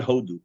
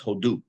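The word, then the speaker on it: הודו: even though koloku say but it's not hodu it's hodu you may have oathodu which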